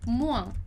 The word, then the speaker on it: moins: Então, aqui na nossa frase 10, a gente tem travaille moins. Travaille moins. Você já viu lá comigo que o S em final de palavra a gente não pronuncia.